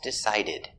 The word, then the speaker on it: decided: decide in the past decided the verb ends with the d so we pronounce ed decided remember we don't say two by we say decided to decided ends with a stop d decided stop the air